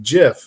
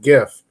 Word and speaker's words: GIF: now so i googled it it says it's pronounced jiff not gif just like the peanut butter well why is it